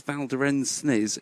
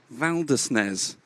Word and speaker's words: Valdesnes: I don't think it is Valderensis, it's Valdesnes. Valdesnes.